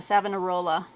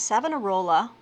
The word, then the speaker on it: Savonarola: I mean, it just sounds like you just sound it out. Savonarola. I'm probably missing an inflection somewhere, but this is Savonarola, The Rise and Fall of a Renaissance Prophet by Donald Weinstein.